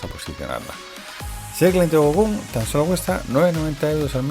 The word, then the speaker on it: GoKoom: De todo esto hablaremos hoy, pero antes de entrar en materia te presento una a mi herramientas, GoCoom, que se escribe G-O-K-O-O-M.